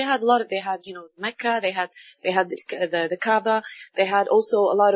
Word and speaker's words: Kaaba: Kaaba. Kaaba. Well, in Arabic it's a little different, but this is how you can pronounce it in English.